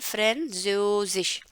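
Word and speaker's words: Französisch: Again ये आगे तक रहेगा, बाकी ये जो श होता है, ये गोल वाली श जो होती है, इसका उच्चारण एंड में रहता ही रहता है क्योंकि वो लिखा जाता है श।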